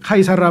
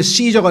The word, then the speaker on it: 카이사르: 역사적으로 이 황제 카이사르란 말은 영어로는 아까 얘기했죠. 이 그리스어로 하면은 C자가 K로 발음된다 그랬잖아요. 카이사르. 근데 영어로 가면 이게 시저가 된다. 이 시저. 아까 사이프러스처럼 시저. 똑같은 단어예요. 근데 그리스어로 지금 우리는 여기다가 음역을 해놨어요.